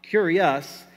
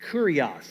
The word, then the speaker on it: kurios: word lord in greek is the word curios curios not curious but kurios actually is how you say that and it means